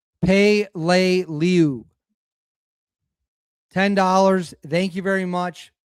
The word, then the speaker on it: Peleliu: All right, so it is pronounced Pay-lay-lew.